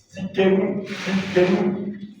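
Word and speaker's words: Tsidkenu: Mais le Jéhovah justice, c'est Jéhovah Tzidkenu. Ça s'écrit comme ça. T-S-I-D-K-E-N-U. Tzidkenu.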